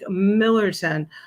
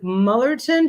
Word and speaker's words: Millerton: kept saying to jane how do you say it and she's like millerton i'm like mullerton she's like no millerton and the girls were like millerton so i was like